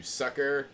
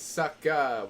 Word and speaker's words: Sucka: going to get you sucker and it's like no it's sucka with an A you have to pronounce it right whitey you know but